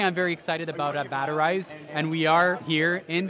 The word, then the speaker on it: Batterize: Yeah, so I'm the CEO of Batterize, and that's spelled like battery, Z-E at the end.